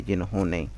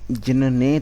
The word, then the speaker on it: जिन्होंने: या फिर इस तरह से बना दीजिए इसको, ने पूरा बना दीजिए, जिन्होंने। अब इसको प्रोनाउंस क्या, जिनने तो करा नहीं जाएगा, जिन्होंने ही प्रोनाउंस करेंगे, तो इसलिए हमने इसको इस तरह से कर दिया।